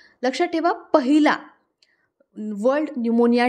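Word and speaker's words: pneumonia: आपण बितले ला world न्यूमोनिया डे आता न्यूमोनिया च जी स्पेलिंग है तर ही थोडीशी लक्ष दय सारखी है बघा च्या म सुरुवात च पी हे सायलेंट असत ओके पुढे 15 नोव्हेंबर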